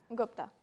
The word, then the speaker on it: Gupta: Do you pronounce it Gupta or Gupta? Gupta.